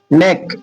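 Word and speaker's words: neck: नेक, नेक एन ई सी के नेक, देखिए इसमें सी के है तो यहाँ के साइलेंट हो जाएगा, सी को का पढ़ा जाएगा, सी को का पढ़ा जाएगा।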